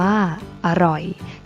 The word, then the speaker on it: อร่อย: นํา อักษร ต่ำ เดียว เสียง ของ พยางค์ ที่ สอง จะ เปลี่ยน ไป ตาม อักษร ที่ เป็น ตัว นำ เช่น ตลก อ่าน ว่า ตลก จรวด อ่าน ว่า จรวด อร่อย อ่าน ว่า อร่อย เช่น เดียว กัน นะ